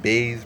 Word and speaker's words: Buys: versus bruno silva so anybody like baze pronounced bay south african but i'mma call him